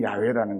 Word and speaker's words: 야훼: 시브리어에 가깝게 발음하면 야훼라는 거예요.